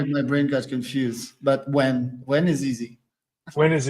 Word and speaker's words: Nguyen: Charles first of all it's easier than it looks it's h pronounced when and uh don't like don't let anybody else tell you differently in French it's different that's the thing it's like ingun or something like that so that's why my